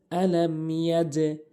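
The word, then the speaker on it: أَلَمْ يَجْعَلْ: এরপরে দ্বিতীয় আয়াতে যেই ভুলগুলো, আলাম ইয়াজআল, অনেকেই আলাম ইয়াজআল বলে, আলাম ইয়াজআল বলে, ভুল উচ্চারণ। সঠিক উচ্চারণ হচ্ছে আলাম ইয়াজে, ইয়াজে। এখানে ইয়া দিয়ে জিমকে যে ধরবো, এখানে ধরার ক্ষেত্রে ধাক্কা হবে, দুটি ধাক্কা হবে, একটি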